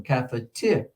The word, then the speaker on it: cafeteria: It'd be the third one, cafeteria.